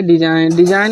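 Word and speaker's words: design: और दूसरा है कि जब कभी यन से पहले जी हमेशा साइलेंट हुआ है।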